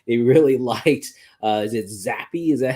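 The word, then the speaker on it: Zappe: The owner said that they really liked, is it Zappy? Is that how you pronounce his name?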